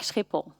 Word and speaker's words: Schiphol: And even though I knew better, it took me quite some time to learn how to pronounce this place like Schiphol.